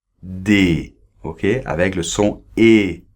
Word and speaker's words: des: se prononce comme ça d d ok avec le son et voyelles et on ne prononce pas le s final d'accords d ok sauf